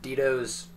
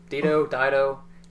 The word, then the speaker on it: Dido: It samples Dito's or Dido, thank you. I'm not sure how to pronounce her name, but it shows.